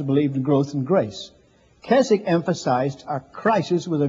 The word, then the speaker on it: Keswick: Sometimes they pronounce it Keswick, but it's Keswick.